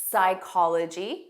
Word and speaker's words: psychology: There are some very common words with a silent P: psychology. So notice it starts on a S sound.